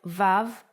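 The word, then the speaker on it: ו: sixth letter is VAV the sound of VAV is V or o or o and it's written like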